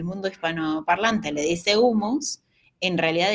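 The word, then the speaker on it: hummus: En realidad, esa Hay que pronunciarla porque es una transcripción al inglés y esa transcripción al inglés implica que la H se pronuncia de una forma que para nosotros sería como la J.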